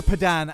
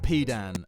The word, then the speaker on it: Pedan: Let's go Pedan as in pedantic, not Pedan as in the other thing.